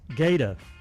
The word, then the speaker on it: Guetta: It's Gaeta. Is that Gaeta? David Gaeta? That's how it's pronounced, but I mean, that's what that says. That's not how I've ever pronounced it.